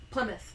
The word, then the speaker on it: Plymouth: the playmouth colony pouth Plymouth Plymouth Plymouth Plymouth play mouth I know it's spelled like ply and mouth but it's pronounced Plymouth Plymouth because English is